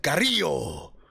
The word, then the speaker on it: Carrillo: my special be upset you're saying it wrong man Carrillo Humberto Carrillo Humberto Carrillo